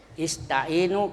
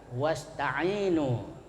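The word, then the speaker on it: واستعينوا: Ista'inu kalau dia berada di awal kata hamzah di bawah alif itu bacanya ista'inu, ada hamzahnya. Tapi kalau ada huruf sebelumnya maka hamzahnya hilang, tidak dibaca, ya. Tapi kalau tidak ada wawunya dibaca ista'inu. Nah, itu kalau ada wawu sebelumnya wasta'inu.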